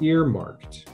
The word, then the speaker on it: earmarked: This word is pronounced earmarked, right? It's kind of like two words put together, ear and marked.